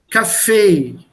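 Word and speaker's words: Café: syllables the break here the stress is on the second syllable you see the small hyphen this is a marker this is the baton hook this means a syllable when this comes before a letter then the second half should be told cafe not coffee and this is how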